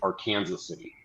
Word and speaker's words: Arkansas City: they simplified that they they pronounce it our Kanas City oh okay that actually